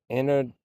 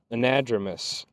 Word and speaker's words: anadromous: Anadromous. Nads, like gonads. Anadromous. Ah. You see? This is why you have Twitch chat. Sorry, YouTube. They're my Webster dictionary. Anadromous.